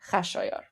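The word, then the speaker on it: خشایار: So, uh Kuro Cyrus is pronounced Kurosh, Darius is pronounced Daryush, and Xerxes is pronounced Khashayar.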